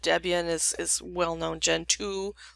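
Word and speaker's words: Gentoo: is is well known gen 2 like generation 2 but it's spelled out gen 2 and it goes on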